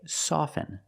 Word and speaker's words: soften: With both words, I don't pronounce a T. I say soften and I say often. But sometimes you'll hear people say often. And it's not wrong. It's okay. People say both often and often.